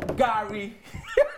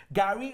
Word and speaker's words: Gari: So number one favorite is, drum roll, Gari.